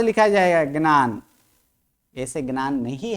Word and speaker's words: ज्ञान: क्योंकि अगर इसका उच्चारण करवाएंगे तो यह सही उच्चारण कर क्या यह ज्ञान है मैं जो बोला व सही है ज्ञान है क्या बोला जाता है ज्ञान जन नहीं